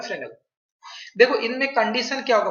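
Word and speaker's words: Fresnel: लिखते हैं फ्रेस्नेल लेकिन इसका प्रोनाउंसिएशन होता है फ्रेनेल।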